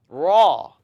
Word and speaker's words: ra: Don't use your lips to pronounce raw, raw. Now, a lot of times people don't realize, but the letter raw, they pronounce it with an asan, ra, ra.